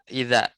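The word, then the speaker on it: إِذَا: Ya, La ini yang keempat idza. Ini bacanya idza bil fathah.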